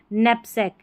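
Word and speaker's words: knapsack: Knife and अ, अब इसको क नैप पढ़ेंगे या नैप पढ़ेंगे, क्योंकि स्पेलिंग बड़ी है तो इसको ब्रेक करना है इस तरीके से, तो इसलिए मैंने तोड़ा है इस स्पेलिंग को। तो यहाँ पर क नैप पढ़ेंगे या नैप पढ़ेंगे, अब आपको समझ में आ रहा होगा कि के साइलेंट है, इसको नैप पढ़ेंगे।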